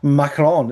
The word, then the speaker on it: Macron: Macron, is that what we're supposed to?